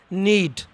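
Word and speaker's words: knead: next की तरफ बट हिस नीड नीड के साइलेंट हेयर नीच गूंदना चपाती कराने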